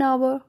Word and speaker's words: hour: as oh you are letter H is silent here so we have put